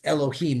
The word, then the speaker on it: Elohim: here I show you but it's where is pronounced Elohim not Adonai there are some cases like yeah